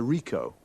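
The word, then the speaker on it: Ricoh: a camera what make and model it's a Rico Rico how do you spell that r i c o h uh okay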